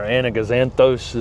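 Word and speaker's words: Anigozanthos: Is kangaroo paws or anaganthos. Am I pronouncing that right?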